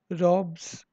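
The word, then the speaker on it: robes: रॉब्स, रॉब्स एस जो है उसको जेड प्रोनाउंस करेंगे।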